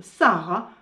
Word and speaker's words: Saqqarah: dire comment aller à Saqqara. Jusqu'à ce que j'apprenne qu'au Caire, le Q se prononce comme un H aspiré. Donc, si au Caire, on vous propose une excursion au Sahara, vous saurez où vous atterrirez.